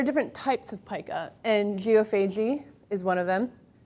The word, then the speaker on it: geophagy: So there are different types of pica, and geophagy is one of them. Also to be pronounced as geophagy, if you are Canadians tend to pronounce it that way.